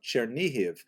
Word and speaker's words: Chernihiv: And there's another, Isaac of Chernihiv, sometimes recorded as Isaac of or Yitzchak of Chernigov, that would be the Russian pronunciation of the same place, also a 12th century